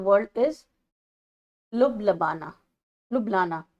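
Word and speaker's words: Ljubljana: लुबलाना ऐसे करके नाम है। इसमें जे साइलेंट है।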